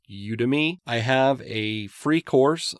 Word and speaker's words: Udemy: often on udemy I used to call it Udi but it's pronounced udemy I have a free course on you to